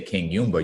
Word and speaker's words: Kinyumba: And if you say Kinyumba, you actually say the name better than most people can pronounce it.